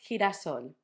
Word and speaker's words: girasol: So when we have E and I, it sounds like J. So he, he. The words I'm going to use to show you are genio and girasol. If, for example, you want to say genio or girasol, like I said, you can do it like a very strong aspirated H from the English.